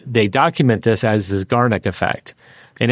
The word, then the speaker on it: Zeigarnik: So it's Zeigarnik. And they document this as the Zeigarnik effect.